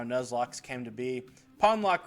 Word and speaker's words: Pawnlocke: loocks came to be pwn lock rhymes with John Lock I only kind of